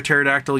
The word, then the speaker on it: pterodactyl: Why can't you hear a pterodactyl use the bathroom? The P is silent.